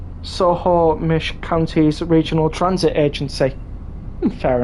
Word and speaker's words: Snohomish: Snohomish is pronounced Snohomish.